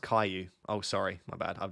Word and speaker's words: Caillou: It's pronounced Caillou.